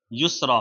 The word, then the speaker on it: یسرا: یہ نام ہے یسرا۔ یسرا، یا سین، را اور یا کے اوپر پھر کھڑا زبر لگ کر کے یسرا بنے گا۔ انگلش میں اس کی